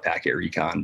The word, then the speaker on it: pktrecon: Yeah, that's, I spell it that way. I call it packet recon, but packet, yeah, recon.